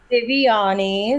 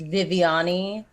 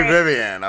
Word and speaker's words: Vivianne: it's very common uh in portuguese it's pronounced viviani whereas it sounds and spelt like vivian so that's what i was trying not to be vivian i was trying to do